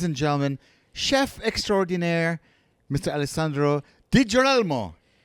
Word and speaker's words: Alessandro: Alandro.